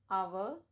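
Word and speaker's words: hour: so ever whole समम लेकिन कुछ ऐसे भी वर्ड्स हैं जो एच से शुरू होते हैं पर एच साइलेंट होता है example ऑनर आवर air honest English में हमेशा एक्सेप्शन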